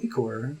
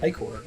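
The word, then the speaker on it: ichor: can fill it with magical eor that's pronounced ior thanks buddy choose your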